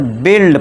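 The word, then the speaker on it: build: बाइल्ड नहीं पढ़ना है। इसे बिल्ड पढ़ना है।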